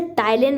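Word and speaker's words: ptyalin: तो यहाँ पर फर्स्ट होता है अमाइलेज, जिसे टाइलिन भी बोलते हैं। इसकी स्पेलिंग पी है यानी, लेकिन इसमें पी साइलेंट है।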